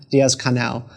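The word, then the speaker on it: Díaz-Canel: regime has, but President Diaz, how do you pronounce his last name? Diaz-Canel.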